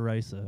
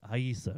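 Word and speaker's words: Rayssa: If it starts with an R, it's an H sound.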